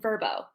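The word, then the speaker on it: Vrbo: will focus on two sites including Airbnb and verbo for those of you who are unfamiliar with verbo it is spelled v rbo and stands for vacation rental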